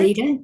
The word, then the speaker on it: Candida: And please forgive me if I um pronounced incorrectly uh candida. Is that correct? Candida. Yeah, candida. on it.